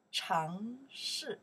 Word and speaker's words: 城市: Check the pinyin here.城市, okay, now you pronounce 城市, second tone, fourth tone, 城市, okay, 城市, city, 城市,